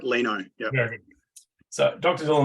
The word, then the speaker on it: Lino: I've been pronouncing it Lino, but is it Lino? Yeah, no, you got it right, Lino.